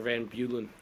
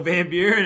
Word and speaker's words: Van Buren: Micro Van Bulen. That's not how you pronounce his last name.